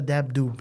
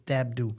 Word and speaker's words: Dabdoub: And I've known her a long time, and I just found out that the B is not pronounced in Dabdoub. And I always call her Martha Dabdoub. It's Dabdoub.